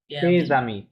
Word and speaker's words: tes amis: tes friends, amis, তেজ আমি। tes এখানে amis. আমি বানানটা কি এরকম হবে, রাইট? ভাওয়াল দিয়ে শুরু, Yeah, তাহলে এসটা এখানে লিয়াজ হবে।